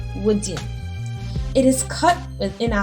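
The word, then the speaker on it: Woodin: a high quality ghanaian material called woody pronounced wooden it is cut within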